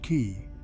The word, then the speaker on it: Qi: and at one point Qi pronounced key Tiamat was a site